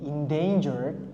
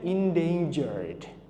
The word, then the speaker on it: endangered: Again, karena ada d di sini, kita bilangnya endangered. Oke, bukan endanger ya, tapi endangered.